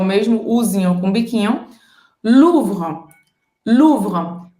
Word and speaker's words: Louvre: Para você fazer esse R, eu recomendo que você pegue um copo d'água e você gargareje. É esse músculo que vai trabalhar na hora de você pronunciar o R francês. Depois você vai gargarejar sem a água e depois você vai trazer para a nossa palavra Louvre.